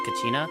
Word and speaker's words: Kachina: I just noticed that like all like the small characters like Kachin or Kanich Kachina, I think that's how you say it, Kachina.